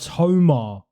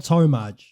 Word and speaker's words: Tomar: Her name is actually PUJA TOMAR. It's not Tomaj. It's TOMAR, which is kind of funny, but I'm just going to keep the breakdown.